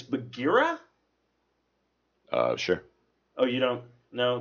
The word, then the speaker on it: Bagheera: Now, I kept pronouncing the Panther's name wrong. It's Bagheera?